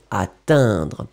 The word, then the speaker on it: atteindre: Ici, c'est atteindre. C'est uniquement dans la nasale que vous sentirez la différence.